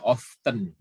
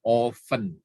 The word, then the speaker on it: often: itu eh sering ya kalau bacanya ovennya tulisannya of them often banyak orang yang membacanya jadi often itu salah sebenarnya yang benernya adalah oven oven terus ada sometimes artinya